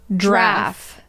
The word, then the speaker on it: giraffe: Yeah, I thought it was a one-syllable word. Oh, giraffe.